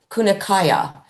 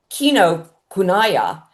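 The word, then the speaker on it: Kinokuniya: And they are going to be ordering it and putting it into um Kun uh Kunakaya. So, um I will basically have the book there and uh Kino Kunaya is spelled um K I N O K U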